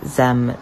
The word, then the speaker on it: zim: asking about my pronouns they are pronounced z zem zaire